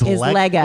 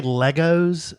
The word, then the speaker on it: Lego: And remember, the plural of Lego is Lego. Is Lego. And they will correct you. If you ever say Legos, it stands for... You're a dummy.